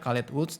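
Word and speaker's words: Caletvwlch: Susah ya bacanya Calet Woods, karena tulisannya CALETWLCH gitu, dibacanya Calet Woods.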